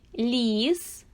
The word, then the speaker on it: ліс: л звучить твердо а в слові ліс який перший звук звук ль він звучить м'яко при вимові м'яких приголосних